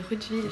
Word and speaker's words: Rudwill: Non c'est Roudeville, genre le W ça se prononce en V.